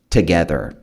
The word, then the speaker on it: together: They were stepping into something bigger together. Juntos. Essa palavra aqui muita gente erra na pronúncia, tá? Vai falar together. Esse to aqui, ele não tem um som de to.